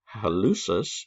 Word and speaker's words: hallucis: we've got the flexor hallucis longus i've also heard it pronounced halicus so i don't care